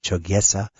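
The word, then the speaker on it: Chogyesa: uh for anybody that's interested check it out it's spelled c h o g ye s chesa uh Korean Zen temple uh you've had that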